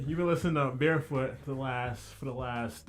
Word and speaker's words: BearFoot: you don't pronounce that so you don't pronounce the x because the x is just a variable of the unknown in the universe so